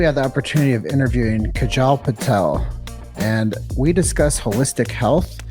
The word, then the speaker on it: Kajal Patel: We are with, sorry, I didn't get the pronunciation of your name. I don't want to mess it up. It's Kajal Patel.